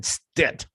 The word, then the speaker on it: Stitt: occasion was governor Kevin Stitt rhymes with stit signing a bill outlawing